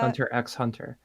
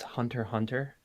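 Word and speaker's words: Hunter × Hunter: asking the question uh do we pronounce the X in titles uh like Hunter x Hunter I say yes yeah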